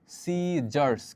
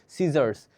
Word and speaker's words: scissors: দেখো তোমরা এটাকে এভাবে উচ্চারণ করবা, এটা যদি আমরা বাংলা লিখি তাহলে এরকম হয় যে সিজার্স। কি বলতো, সিজার্স, SCISSORS, এটার উচ্চারণটা কি হয়? সিজার্স।